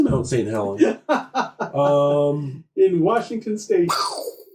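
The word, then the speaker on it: Mount St. Helens: really really cool stuff pronouncing the thing is Mount Saint Helen yeah um in Washington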